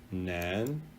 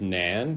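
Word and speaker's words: 男: So this character is pronounced nu, and this character nu, and this character is pronounced nan, nan, nu.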